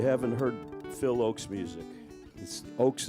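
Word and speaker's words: Ochs: Oakes is spelled O-C-H-S.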